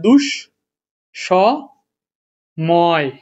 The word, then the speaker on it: দুঃসময়: একটা আছে যে তোমার শব্দের মাঝে বিসর্গ থাকলে দৃত্ত হবে খারাপ লাগতেছে রে ভাই ধর দুঃসম সময় এখন এই দুঃসময়টা কি হবে ভাই দৃত্ত উচ্চারণ হবে তাহলে দুষ সম ময় দুঃসময় এতো ভুল দেখছি না